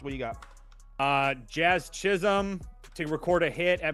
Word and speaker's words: Chisholm: Jazz Chisholm to record a hit at -130. How do I spell it? Is that an S? Whatever. Jazzchich. IS? It's not IL, bro. It's Chisholm.